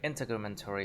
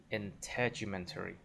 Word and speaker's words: integumentary: Like a word that is long, it's hard to have the stress on the first one. So I think integumentary.